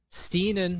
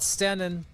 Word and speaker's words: Steen: You forgot that you were there, but many people on the Prairland Rentals text line are giving a Guys, Steen, not Stenin.